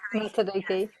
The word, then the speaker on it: Matariki: Is it Matariki? Matariki.